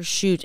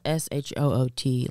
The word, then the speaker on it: Schuett: Badass Jennifer Schuett, and it's not SHOOT.